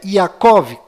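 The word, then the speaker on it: יעקב: d mudo no final e Jacó que na verdade é yacov com v mudo no final e a letra Y no lugar do J Ah já que estou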